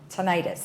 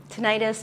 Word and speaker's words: tinnitus: going to talk about tinnitus. Is that how I pronounce it? Tinnitus, tinnitus, both are correct.